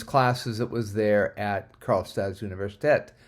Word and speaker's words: Karlstads universitet: And then lower right, we have one of our previous classes that was there at Karlstads Universitet, which is how you say the University of Karlstad in Swedish.